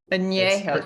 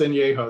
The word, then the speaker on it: añejo: Añejo, sorry, It's I'm pronounced añejo. That's okay. añejo.